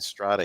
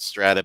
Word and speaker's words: Strata: fact that you're spotlighting strata here which i always called strata but ever since i've been talking to veronica today i just feel like it's strata i've been saying it wrong all this time but uh don't